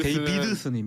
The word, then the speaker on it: 데이비드슨: 데이비슨 아니에요? 왜 데이비드슨? 아, 그러니까 굉장히 어렵게 만들어놨어요. 이게 발음이 데이비드슨 데이비드슨입니다.